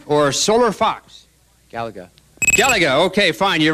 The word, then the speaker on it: Galaga: up in the upper leftand corner is that galaya or solar Fox Galaga Galaga okay fine you're right I mispronounced it you got it right is the